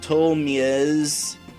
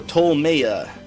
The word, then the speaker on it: Ptolmeia: to a place called tolmiaz let me double check that out that's pronounced no tolmaya we're going to tolemaya